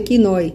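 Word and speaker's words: κοινοί: E aqui a palavra usada por Jesus foi koinoi, que se pronuncia kinoi e significa comum.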